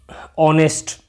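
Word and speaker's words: honest: suitable answer हो गया word meaning with the silent H an owner होता है ओनर ठीक है एच में एन ऑनेस्ट ऑनेस्ट कह दो जैसे तो फिर एन ऑनेस्ट मैन ठीक है इस तरीके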